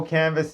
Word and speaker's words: Canva: But it it had the silent S on it, but we didn't know that.